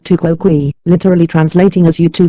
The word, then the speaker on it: tu quoque: answered criticism with criticism pronounced tuko GUI literally translating as you